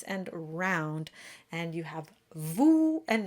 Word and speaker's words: vous: We have oo in vous, just like you.